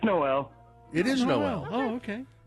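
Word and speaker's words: Noelle: It's spelled with 2 L's and an E at the end. So, is it Noel? Is that correct? It's Noel.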